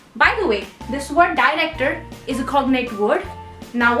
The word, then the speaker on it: director: The pronunciation changes a bit because the vowels in Spanish language are quite direct. It's E, O, U, A, E, and that's it, and that's why it's director.